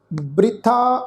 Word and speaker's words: बृथा: पहला जिहड़ा शब्द आ बब्बे नूं सिहारी, बब्बे दे पैर विच तुसीं देखो अद्धा रारा, फिर तत्थे नूं कन्ना। इसदा उच्चारण करांगे बृथा।